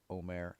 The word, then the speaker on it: omer: Every man is to gather according to his needs, an omer per person, or omer as you might want to pronounce it.